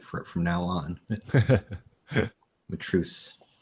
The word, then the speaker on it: Matreaux: Matreaux. Got it. Okay. Now I'll say it right from now on. Matreaux.